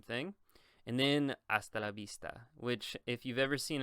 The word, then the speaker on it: vista: The V in Spanish is actually pronounced like a B. I know that's weird, but it's pronounced like a B. So you would not say hasta la vista.